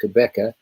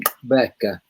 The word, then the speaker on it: Qhubeka: the of the team Qhubeka, but the way we should be saying team Qhubeka is team Qhubeka. And that's the correct way to pronounce the word if you if you're in South Africa.